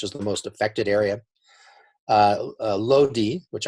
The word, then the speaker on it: Lodi: Lodi, which I have to think to not pronounce Lodi, but Lodi was a place, and you can see in this gray bar, that instituted.